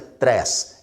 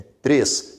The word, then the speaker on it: três: Observe que aqui o acento é circunflexo porque a pronúncia é fechada. Veja que você não pronuncia tres, é três, fechado.